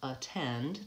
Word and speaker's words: attend: have first the words at and attend and you can see they both start with the a T but at uses a clear vowel valve aa because it's the only syllable the stressed syllable in the word versus